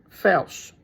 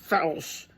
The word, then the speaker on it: Felsh: Felsh. Felsh. Not Felsh. Felsh. Rhymes with belch.